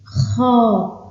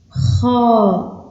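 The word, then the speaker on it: خاء: Tha, Tha, Jim, Jim, Ha, Ha, Kha. Ici, on sort de l'air, mais en rugissant. Kha, Kha, Del, Del, Zel.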